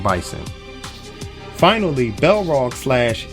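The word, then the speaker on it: M. Bison: is balrog in japan his name is m bison which rhymes with m tyson get it i was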